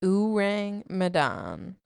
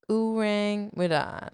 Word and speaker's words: Ourang Medan: Urang Madan. This was Megan before recording. Uring mad.